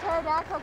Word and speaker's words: pterodactyl: have heard this one why can't you hear pterodactyl going to the bathroom because the p is silent i expect an excel